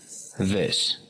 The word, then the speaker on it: this: situaciones es el demostrativo this. También aprendimos que su pronunciación, por más que esté con una I, no suena como this, sino como una E.